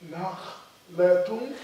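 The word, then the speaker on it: نخلة: Nakh. Latun. Nakhlatun. Nakhlatun. Nakhlatun. Tun. Pronounce the noon in the tanween. Nakhlatun. Nakhlatun. Tun. Nakhlatun. Naam. Yes, it's like tun.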